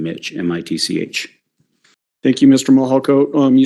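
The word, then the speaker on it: Mihalko: court reporter you bet my name is Mitch mahalko good morning I'm a commander with the El Paso County Sheriff's Office my last name is spelled m-i-h-a-l-k-o first name Mitch m-i-t-c-h thank you Mr mohalcoat um you said that you're a commander with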